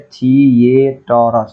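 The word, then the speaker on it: theatre: हम ऐसे पढ़ते हैं थिएटर, थिएटर, ठीक है। तो ए, गाँव घर में देसी भाषा में ठेठर बोलता है, अरे बेवकूफ कहीं का, थिएटर बोलते हैं उसको, याद रखिएगा, थिएटर,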